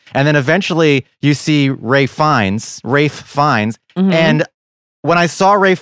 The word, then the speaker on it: Ralph Fiennes: There's Liam Neeson and there's Ralph Fiennes. Is that how you say his name? Rafe. Fiennes. Yeah. Rafe? Yeah. It's not Ralph. I think it's spelled Ralph, but it's pronounced Rafe.